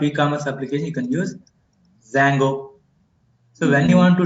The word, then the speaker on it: Django: D is silent, Django.